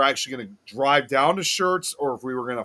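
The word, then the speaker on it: Schertz: like again it's like a pronounced the same as like a like a t-shirt like if you want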